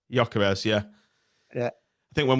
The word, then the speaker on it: Gyökeres: How would you pronounce his name? Victor Gyökeres. Gyökeres, yeah.